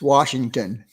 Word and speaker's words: Washington: not wars it's wash just like you wash your hands okay it's washington i i get everybody